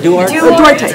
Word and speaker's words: Duarte: Is that how you pronounce Duarte?